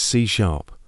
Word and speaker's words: C#: Number seven is c#, pronounced c#.